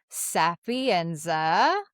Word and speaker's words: Sapienza: But I wanted to introduce you to my friend, Melissa Sapienza.